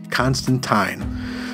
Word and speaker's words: Constantine: one it is, but John actually corrects someone and shows him how to pronounce his name, and he tells him his name is Constantine.